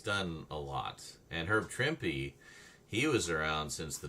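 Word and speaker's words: Trimpe: Okay, Trimpy. I was right on that. Everybody says Trimp, but actually you do pronounce the E in this case. So, it's Trimpy.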